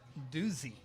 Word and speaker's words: Doozy: So actually you pronounce it doozy. Doozy.